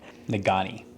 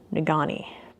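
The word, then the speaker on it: Negaunee: pavement between Marquette and apparently I pronounced this wrong how do you nagani nagani and that's mostly uphill so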